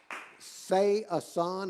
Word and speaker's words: Sayasan: Sayasan. That's how you spell her last name. Sayasan. Look at that. Isn't that great? Say Asan, is that how you say it? Yeah, Sayasan.